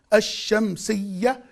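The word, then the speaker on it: الشمسية: Ash-Shamsi, Ye, Shadda Fatha, Ash-Shamsiyya. The Ta marbuta in the end of the word, it's not pronounced unless you add it to another word.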